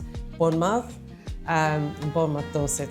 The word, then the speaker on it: Bournemouth: community in Dorset, Bournemouth um Bournemouth, Doset, sorry, not Bon Doors, Bournemouth.